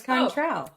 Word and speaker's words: Cointreau: I'll spell it. Okay. Okay. Cointreau. Contral. Sure. Yeah, it's Contral.